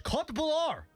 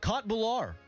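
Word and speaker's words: köttbullar: Known locally as Kot Bular. That's how you pronounce that. Kot Bular.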